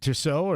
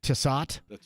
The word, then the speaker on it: Tissot: And this is a Tissot, as I pronounce it, where I'm from, a Tissot.